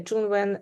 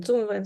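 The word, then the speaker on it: 中文: You're supposed to say Junwen, and instead of Junwen, they said Zunwen.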